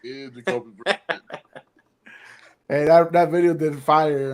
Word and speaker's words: Brissett: Brisket. Oh, my fault. Damn, you're right. It is Jacoby Brissett.